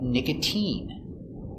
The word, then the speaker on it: nicotine: mine valentine valentine but sometimes it's pronounced with the sound e like nicotine use the e sound nicotine and sometimes it sounds